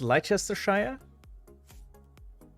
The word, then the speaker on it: Leicestershire: Shire is pronounced sheer in the UK.